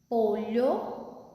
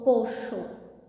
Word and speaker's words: pollo: Outro detalhe: na palavra pollo, que significa frango, tem 4 formas para pronunciar essa palavra. Eu posso pronunciar pollo. Em Centro-América é pronunciado dessa forma, pollo. Eu posso pronunciar pollo, polho ou pocho. Então, são 4 formas.